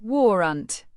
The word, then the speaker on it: warrant: Pronounce it as war-unt, rhyming with torrent.